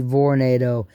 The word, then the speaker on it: Vornado: then somebody notices it it's called Tornado but it's with the V Vornado it's a little space